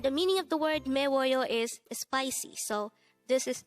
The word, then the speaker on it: 매워요: that your fuit is spicy you can say meoo and with that you've just learned meoo now